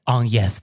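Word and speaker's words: Agnès: He's like, on yes, Varda. On yes. And it's like, okay, that is the correct French pronunciation.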